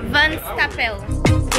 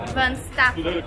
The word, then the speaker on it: Van Stappen: Van Stappel. It is called Van Stappen. Van Stappen. If I'm pronunciating my Dutch well, Van Stappen.